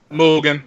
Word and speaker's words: Mugen: Mugen. You got it right. Mugen. Okay, Mugen. Okay. It's Japanese for infinity.